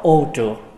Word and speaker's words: ô trược: Người Bắc đọc là ô trọc, người Nam đọc là ô trược.